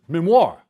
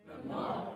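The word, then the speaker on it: MIMWAR!: Memoir. All right, so all together. Memoir. You got to give it the oomph at the end. Memoir.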